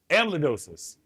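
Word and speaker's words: amyloidosis: multiple myyoma and cardio amma le how you pronounce that? Amidosis. Amidosis.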